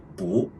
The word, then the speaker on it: 不: In a word or phrase, if the character after the character Bu is a fourth tone, then we pronounce Bu as the second tone, Bu.